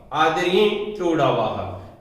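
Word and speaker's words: आदिर्ञिटुडवः: जिसको नहीं पता है उसके शुद्ध उच्चारण के लिए कह देता हूं, आदरी टू डावाह, आदरी टू डावाह। अनुनासिक है इसलिए कह रहा हूं, आदरी टू डावाह। बस जैसे कि इसने कहा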